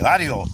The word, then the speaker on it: barrio: Barrio.